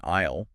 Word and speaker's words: aisle: It is spelled A I SL E GH English spelling which has that completely ridiculous silent S hanging out in the middle of it just to torture people learning to read English.